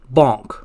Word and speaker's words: Bank: is bonk it will look like this the pronunciation is bonk bank banco banco banker bank bonk now that